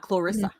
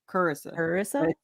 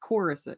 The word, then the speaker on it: Corissa: it doesn't fit, but it's not Clarissa. Technically, the way my parents pronounce it, it sounds like there's a U. Corissa. It's Corissa.